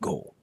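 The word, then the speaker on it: ကို: Scott and go but often they're pronounced gah and go for my lesson today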